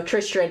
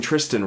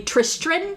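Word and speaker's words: Tristran: Cuz you're adding It sounds like you're pronouncing Tristan wrong. Uh, so the book his name is actually Tristan with an R. T R I S T R A N.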